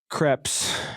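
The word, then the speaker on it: crêpe: Don't pronounce the S at the end.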